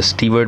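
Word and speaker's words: Stuart: स्टुअर्ट को आप एज अ स्टीवर्ड भी प्रोनाउंस कर सकते हैं, बोथ प्रोनाउंसिएशंस आर करेक्ट।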